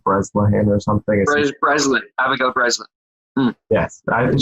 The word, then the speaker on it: Breslin: Breslin, Abigail Breslin.